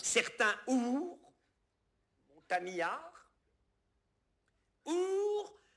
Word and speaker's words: ours: y a une faute, on ne doit pas prononcer le S de ours. Certains ours, montagnards, ours à demi léchés.